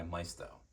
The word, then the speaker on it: Maisto: Ford Thunderbird made by Maisto or Mao depending on how you like to pronounce their name I got this model